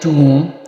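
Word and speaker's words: tomb: इसको कहते हैं बोम, इसको कहते हैं थम, इसको कहते हैं क्लाइम, इसको कहते हैं टूम, इसको कहते हैं क्रम, इसको कहते हैं लैम्प.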